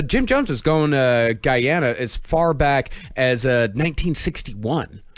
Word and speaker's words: Guyana: It's actually pronounced Guyana, not you.